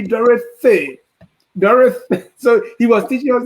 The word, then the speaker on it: Dorothy: Sine Potipa, when he came, he taught us proper pronunciation, especially with the TH sound. So every time, like my sister was Dorothy, we used to say Dorothy. He said, no, it should be Dorothy.